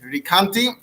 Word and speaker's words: Recanati: so most pronounce it ricanti although those who are into pronouncing italian cities correctly it's apparently something more like recanati at any rate he's